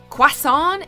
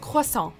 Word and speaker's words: croissant: Tom we get that this French pastry is tough to pronounce but of all the possible ways to say it croissant is not one of them try it with us costal but uh but I